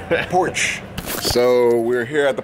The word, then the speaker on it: Porsche: Porch.